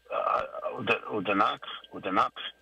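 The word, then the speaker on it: Odanak: I'm trying to make sure I pronounce the name right. Oh boy, I'll get to it right away. It's Udanak, and then they call themselves Udanaki.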